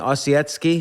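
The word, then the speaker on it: Ossietzky: first off how do you say his name osetsky osetsky yeah he was basically on the left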